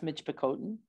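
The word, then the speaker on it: Michipicoten: pronounced yeah um I'm having to relearn the pronunciation that I've used for many years and that's Mitch bakoten correct thank you so that's the only nation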